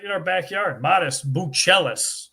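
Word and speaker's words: Matas Buzelis: Modest Buchelis, I was told is the proper pronunciation.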